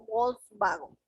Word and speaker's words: Volkswagen: la w como w el alemán por otro lado pronuncia a la w como una v en este caso pronuncian la palabra como volkswagen o sea este señor